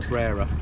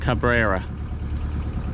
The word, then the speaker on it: Cabrera: plan is to head to how do you pronounce that Island Cabrera Cabrera so about 50 miles away so after the